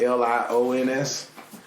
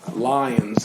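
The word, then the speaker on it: Lyons: I tell people that it's spelled um l-y-o-n-s not l-i-o-n-s um lions or lions uh depending on if you're from there or not but um very small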